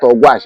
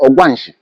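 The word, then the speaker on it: Ogwashi-Ukwu: Ogwashuku, which is correct pronunciation, not Ogwash, it's Ogwanshi.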